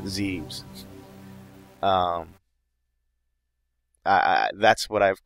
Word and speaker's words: Zebes: I am recording this after playing other M, so I know they're calling it Zebes, but Zebes is a terrible pronunciation, so I'm calling it Zeebs.